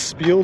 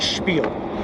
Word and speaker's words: spiel: And why do I want to pronounce it with an H in there? I want to pronounce it like spiel.